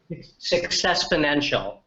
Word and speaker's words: Successponential: The Successponential. Successponential. I think that's. Yeah. In fact, you can, and it's spelled exactly the way it sounds.